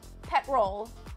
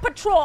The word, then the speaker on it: petrol: I'm saying it right. I'm literally saying it right. Not patrol. I said patrol for a second, but then I said petrol, okay?